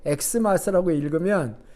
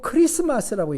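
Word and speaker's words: Xmas: 영어의 X는, 대문자 X는 같이 X로 발음되지만 헬라어에서 영어의 X자는 크자 발음이 납니다. 그래서 크예요. 그건 X가 아니라 K와 같은 발음이 나는 거예요. 그래서 우리 성탄절에 엑스마스라고 이렇게 써놓고 읽을 때 엑스마스라고 읽으면 그 무식한 사람이잖아요. 엑스마스라고 읽고 크리스마스라고 읽습니다. 왜냐하면 그 X는 영어가 아니에요.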